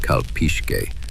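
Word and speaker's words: calpixque: The Kalpixke, pronounced Kalpishke, were tribute collectors.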